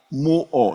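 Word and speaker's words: μύω: Y se nos dice que es un derivado de una palabra que solo contiene 3 letras, y es la palabra muo, no es mudo, sino muo, M-U-O.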